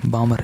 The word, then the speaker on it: Balmer: बामर एक साइंटिस्ट है, बामर। इंग्लिश में लिखेंगे BALMER, L साइलेंट रहेगा, ठीक है।